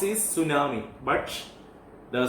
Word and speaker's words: tsunami: Tsunami is pronounced is tsunami, but the spelling T, yes, you should describe it here.